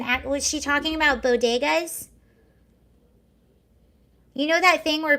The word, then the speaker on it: bodegas: lady appeared to misspeak pronouncing the word bodigas rather than bodegas the first lady who